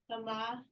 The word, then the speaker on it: tama: Tama. Correct. Okay, you say tama. The Tama. stress is on the first syllable.